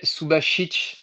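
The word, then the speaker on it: Subašić: D'ailleurs, d'ailleurs, on dit bien Daniel Subasic au passage, je tiens à le dire.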